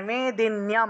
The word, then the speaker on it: मेदिन्यं: तावत् तिष्ठति मेदिन्यं, मेदिन्यं নয়ের সাথে জফলা ছিল, তাই মেদিন্যম, নিয়মটা একসাথে উচ্চারণ হবে।